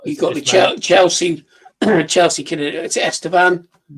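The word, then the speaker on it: Estêvão: you got the Chelsea Chelsea, is it Estean? Yeah. Yeah. And you got it. Is that how you pronounce it?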